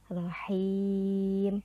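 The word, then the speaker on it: رحيم: Cara bacanya rohim, dipanjangkan 4 sampai 6 harokat.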